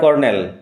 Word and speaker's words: colonel: Daughter of a retired কর্নেল, একজন অবসরপ্রাপ্ত কর্নেলের মেয়ে। কর্নেল হচ্ছে সেনাবাহিনীর এক উচ্চপদস্থ অফিসার। উচ্চারণ বানান লক্ষ্য করো, কর্নেল উচ্চারণে আর থাকবে কিন্তু স্পেলিংয়ে কোথাও আর নেই, COLONEL।